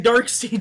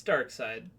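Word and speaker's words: Darkseid: He had the prep time of between Dark Seed shooting the laser and it hitting him. Dark. That was the prep time. Did you say Dark Seed? Yes. It's dark side. It is. Sorry, it's spelled weird.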